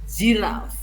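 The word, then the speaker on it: giraffe: berulang misalkan jiraf jiraf ditulisnya pakai g tapi kita bacakan ziraf terus berulang-ulang sampai anak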